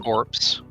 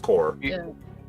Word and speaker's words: corps: it's just it's just core woman you said Corps it's just core it's weird word but yeah it would say like Marine core but it's spelled cor English yeah letters for